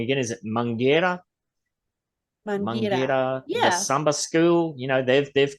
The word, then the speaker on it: Mangueira: Mangueira, yeah.